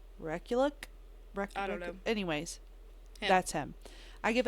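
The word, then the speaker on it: Rekulak: say his last name so I'm going to spell it R e k u l a k recul anyways that's him I give it a five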